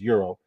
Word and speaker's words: gyro: call it proper terminology proper way to pronounce it as Euro he thought that a